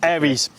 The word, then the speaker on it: Ares: So Nathan, first question is, how do you pronounce the business name? Because I'm always saying Ares or Ares, so how is it pronounced? Ares. So Ares, it okay. derives from the Greek god of war, which is why we